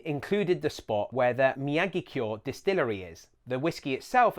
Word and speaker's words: Miyagikyo: Miyagikyo. This one really seems to baffle people. Don't put the stress on the gi. Also note that kyo is one syllable. It's not kyo.